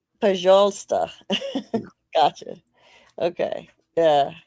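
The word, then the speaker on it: пожалуйста: If it's the word, I think it's Pajalsta. Pajalsta.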